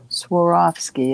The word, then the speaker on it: Swarovski: to come up for auction during the playoffs Swarovski am I saying it right yeah I have three Bangles that are cute or off ski Swarovski I have this cute little I don't know